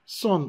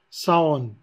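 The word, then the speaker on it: Saône: Il se prononce Sonne au lieu de dire Saon.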